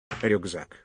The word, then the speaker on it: рюкзак: Рюкзак. Рюкзак. Рюк. Yeah, so it's like German Rucksack, but Рюкзак.